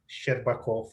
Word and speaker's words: Shcherbakov: by my student Dmitry Shcherbatkov, which I think I also pronounce it wrong. I always say there's not enough vowels in there. Okay, okay, and I have there is strange letter sh, Shcherbakov, sh.